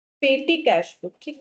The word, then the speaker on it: petit: ये जो पेटी जो वर्ड है ना, ये एक फ्रेंच वर्ड है। French word, actually French word का जो स्पेलिंग है वो कुछ ऐसा है, PETIT, ये है वो वर्ड, ठीक है, जिसका मतलब